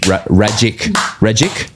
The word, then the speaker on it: Rajic: Rajic? Rajic rhymes with magic.